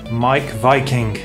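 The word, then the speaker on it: Meik Wiking: Again, a really famous best-selling book by the wonderfully named Mike Viking. It's spelled Meek Viking, but he's a guy who studies happiness, and this is the Danish way to live well.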